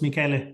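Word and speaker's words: Miguel: way Carlos just the my name is pronounced Mikuel so that I don't get stuck with Michelle for too long.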